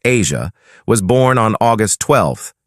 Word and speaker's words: Aja: Their son, Aja, pronounced Asia, was born on August 12, 2001.